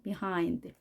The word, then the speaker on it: behind: 하인드 이렇게도 발음을 하는데요 발음은 비하인드 db 를 아주 약하게 하는 겁니다 비하인드 이렇게 강하게 발음 하지 마시고 하인드 비하 인데 하인드 에 강세를 주면 자연스럽게 b 발음이 나오겠습니다 위치나 발달 진도 등이